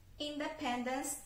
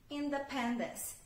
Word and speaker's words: Independence: Independence Day. Independence. Então, a sílaba tônica é no pen. Então, eu não falo independence, no. Independence, Independence Day.